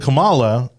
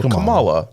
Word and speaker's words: Kamala: with Camelot people continually how do you say your name Pamela no no Kamala yeah I've heard it multiple ways I don't really know I'm pretty sure it's Kamala I'm gonna say Kamala okay yes it's Kamala